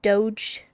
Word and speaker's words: Doge: That's how people spell it when they're trying to say Doge. Like dog but Doge.